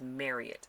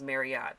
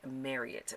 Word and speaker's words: Marriott: Let's face it, a Marriott hotel, I'm sorry, my sister would get me if I did not pronounce it right. It's Marriott. I thought it was Marriott, but she worked for Marriott, and so her and her fiance, and so it is pronounced Marriott.